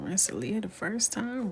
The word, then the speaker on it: Rensselaer: Rensselaer. If you're from Rensselaer, it would be Rentler.